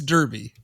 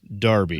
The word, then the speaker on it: Derby: In England, it is pronounced Darby.